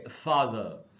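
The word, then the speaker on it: father: में देख रहे होंगे ये जो आर लिखा हुआ है इसका मतलब ये है की ब्रिटिश इंग्लिश में इसको नहीं पढ़ना है अमेरिकन इंग्लिश में इसको पढ़ना है ब्रिटिश इंग्लिश में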